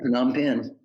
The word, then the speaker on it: Phnom Penh: Please go check out his new book, From Charleston to Phnom Penh. Is that how you pronounce it? Yeah, Phnom Penh.